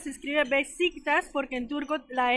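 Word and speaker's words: Beşiktaş: Ponen simplemente en Google Maps Besiktas, se escribe Besiktas porque en turco la S, hay una S rara con un palito que se pronuncia sh.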